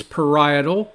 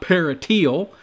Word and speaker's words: parietal: It's parietal, not parietal, and it is also hematoma, not hematona. It is amazing to me how bad this really was.